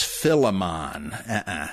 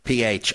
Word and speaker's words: Philemon: If you're wondering who I'm talking about, it might be because you've heard it mispronounced as Philemon. No. P-H-I-L-E-M-O-N.